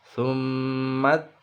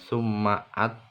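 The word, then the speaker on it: ثُمَّ: Summat bukan summaat tapi summat takhudtumul ijla min ba'dihi.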